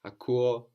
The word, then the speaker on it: ακούω: So akuo also counts as a verb with its accent on the ending, even though we have uo there and the accent on the u. So akuo is like one of our verbs with the accent on the end, but this is a little bit strange.